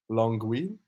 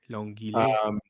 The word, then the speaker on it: Longueuil: So Long, like long, but then Ueuil. Longueuil. Longueuil.